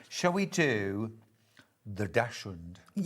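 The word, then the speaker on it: dachshund: Oh, Jess wants to know, is that the correct way of pronouncing it or would you say dashhound? Daxund. Dash. Dax.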